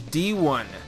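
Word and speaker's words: D'Ron: name is actually pronounced D1 it's spelled D apostrophe r o n but the r is pronounced like a w my parents have a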